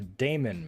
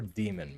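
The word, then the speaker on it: daemon: you to be a Damon mode how do you pronounce it do you pronounce it Damon mode or demon mode I've always used Damon to sort of differentiate from like demons okay so this is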